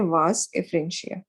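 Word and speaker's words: vasa efferentia: Chorda epididymis, corpus epididymis, capita epididymis, ये मिलके बनाते हैं वास एफ्रेंशिया। मैंने आपको बोला था ए साइलेंट होगा, वासा एफ्रेंशिया लिखते हैं, बोलते हैं वास एफ्रेंशिया, and this forms वास डिफरेंस, वासा डिफरेंशिया।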